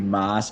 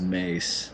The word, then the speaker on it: Maas: It's It looks like it should be Moss, but it's actually pronounced Mace.